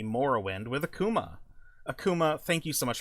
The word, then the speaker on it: Akuma: Uh, I know that a lot of people call it Akuma because of Street Fighter, but I think that Akuma is the Japanese pronunciation of the word, which is where I